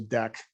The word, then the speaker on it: Deque: was to see how might we use a deck if we were going to do that. There is an interface called Deque. It is not a class, just like we saw before. And again, you could say deck my deck equals new linked list, and that